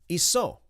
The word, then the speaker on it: Iso: So I asked Sair, how do you say Jesus in Aramaic? Iso. He said, Iso. That's how you say Jesus.